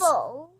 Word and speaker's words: apple: Sounds apple. L. Yes, good. You got it. Apple. So it sounds L and E is silent, because in apple you're not making any sound for E.